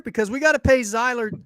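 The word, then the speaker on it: Sieler: we got to pay zeiler or Z how do you say it Evan you know sealer sealer yeah do you think they're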